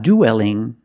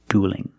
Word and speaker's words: dueling: And it's not dueling. Don't pronounce that E. It's one sound. Uh plus a dark L. Duel and dueling.